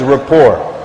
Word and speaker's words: rapport: and beneficial for us to know, known as rapport. Rapport. R-A-P-P-O-R-T. Rapport. And rapport basically is, that's really how it's spelled, by the way.